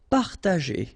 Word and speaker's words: partager: Partager, okay, parta, and then here, G and E after, well, R in that case, it's the sound E, so you pronounce it J, G, okay, partager, partager.